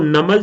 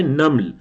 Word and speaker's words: نمل: سورۃ النمل میں۔ اچھا، یہ میم کے سکون کے ساتھ ہے، اردو کے لہجے میں ہم اس کو نمل تو کہہ دیتے ہیں لیکن یہ نمل نہیں ہے، یہ کیا ہے؟ نمل، نمل، نون پر زبر اور میم پر سکون۔ حضرت سلیمان علیہ السلام